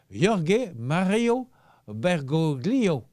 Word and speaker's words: Jorge Mario Bergoglio: Aujourd'hui, 17 décembre, c'est l'anniversaire à Jorge, j'espère qu'il fait bien le prononcer. Écoutez bien. Jorge Mario Bergoglio.